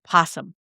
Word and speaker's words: opossum: I asked the question because you see it written and it has an O in front of it, opossum, but you don't pronounce the O.